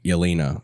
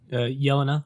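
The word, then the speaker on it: Yelena: in comparison to like elena or is that right i'm pronouncing that correctly elena yelana yelana yeah um like in florence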